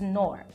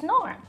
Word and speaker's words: Knorr: people around me, that the pronunciation of Knorr is Knorr. It's Knorr.